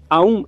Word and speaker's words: Aum: Aum é geralmente pronunciado Aum. Então ele passa por Aum.